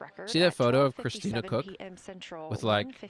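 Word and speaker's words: Koch: It's it's it's pronounced Cook, but it's the German caulk, right?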